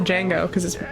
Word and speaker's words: Django: think anyone ever said Django category the D is silent the Unchained is my